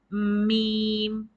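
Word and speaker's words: ميم: do letter mean and this is pronounced by the lips by shutting them you need to close your lips tightly and then pronounce meme it is a nice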